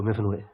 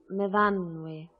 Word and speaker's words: Myfanwy: What do you do, Myfanwy? No, Myfanwy. We pronounce it Myfanwy.